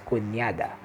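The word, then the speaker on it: cuñada: again there the end there's a wave on top of it so he pronounced it as kunyada and for fathering though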